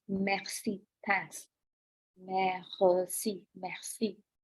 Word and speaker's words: merci: Merci, merci. It's not mercy like English, it is merci.